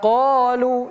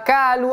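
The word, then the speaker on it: قَالُوا: Yau di sini huruf ain yauduna tumma yauduna 1 2 3 tumma yauduna lima qolu ini huruf qof bukan ka jangan lima kalu atau lima qo bukan ko o ko tapi qo lima qolu tumma yauduna lima 1 2 3 tumma yaud.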